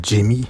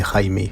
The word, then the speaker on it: Jaime: D'ailleurs, ça ne se prononce pas Jamie, mais Jaime.